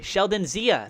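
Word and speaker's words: Sheldon Xia: official statement Zia okay Sheldon Zia thank you so I say it like a z I bought the dip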